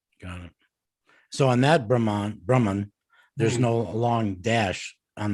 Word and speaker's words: Brahma: Then there's Brahma, who is the creator, Chaturmukh, four-headed Brahma. And So Brahman, the accent there is with a long A at the end, Brahma.